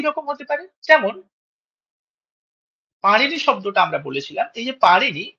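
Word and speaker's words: পাণিনি: এইযে পারিনি এইটা যখন আমরা সংস্কৃতে উচ্চারণ করি তখন এই যে মূর্ধন্য এর উচ্চারণটা আমরা দেখলাম অনেকটা ওই র এর কাছাকাছি আসছে। পারিনি বলছি আমরা। পানিনি বলছি না।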